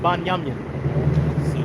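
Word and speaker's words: בנימין: Ben, Well, that's how you pronounce it in ancient Hebrew. what is it? Banyamin. Yeah. Sounds some Caribbean stuff. It sounds Caribbean, right? Banyamin man.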